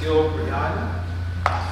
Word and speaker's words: Gil Brianna: Number 6 is Gil Brianna. That's how you say it. Because people say my name incorrectly.